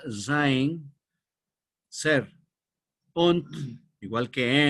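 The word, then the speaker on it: Sein: se llama en alemán que significa Entonces se pronuncia zin ser on igual que n en inglés on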